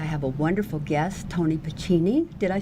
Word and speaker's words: Pacini: tonight I have a wonderful guest, Toni Pacini. Did I say it right? Yes, Pacini?